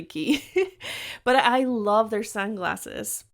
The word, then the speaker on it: Quay: got some prescription glasses a key or Quay whatever I think it's key key my sister gets mad at me when I mispronounce koi or when I say Quay it's actually key but I love their